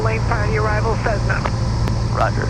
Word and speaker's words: Cessna: prior to your arrival, Cessna. Roger, 0 Juliet Alpha. Wind, light variable. Got control of that pronounces Cessna like that Z's in it.